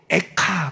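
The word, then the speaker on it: איכה: 한자, 한문으로 쓴 한자어 책 제목은 슬픈 노래인데 히브리어도 발음이 똑같아요. 워드 플레이가 돼요. 히브리어로 에카 그래요.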